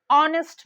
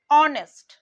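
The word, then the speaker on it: honest: আমরা যখন বলছি আওয়ার অনেস্ট এখানে এইচ টা কিন্তু সাইলেন্ট থেকে যাচ্ছে আমরা উচ্চারণটা ভাওয়েল সাউন্ড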